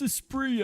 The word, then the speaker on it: Esprit: Some of you may jump on me going, that's not how you pronounce it, but I refuse to pronounce it the apparent way they suggest. I really like Lotus Esprit. It's a spree, actually. No, not for me.